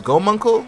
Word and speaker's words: Gomunkul: But all jokes aside, this man, I think the way to pronounce his name is Gomunkel.